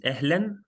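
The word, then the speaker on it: أهلاً: the first one is ehlen that's how we pronounce it means hi okay or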